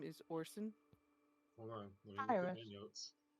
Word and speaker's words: Orison: his actual name is Orson hold on notes o r i s o n that's horison okay Thors got it is silent silent the singer Roy Orson that's or son you are able to